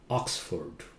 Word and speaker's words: Oxford: not London London London London how do you pronounce that it's not Oxford Oxford Oxford okay it's not Oxford Oxford okay